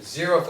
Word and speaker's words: zeroth: could be zero and this is how you say it zeroth order first order second order